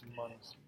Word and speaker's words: monosomy: trisomy and that's monosomy, right?